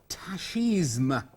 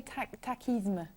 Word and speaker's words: tachisme: What would you Tachisme, probably tachisme. I think, I mean, it is, as you can see, it is from the French, so originally it would have been tachisme.